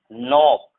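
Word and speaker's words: knock: एन से before जब भी के होगा, एन से बिफोर जब भी के होगा 100% के साइलेंट होगा। जैसे इसे हम पढ़ेंगे night, night, not, knowledge, no, knee, नॉक, NEET.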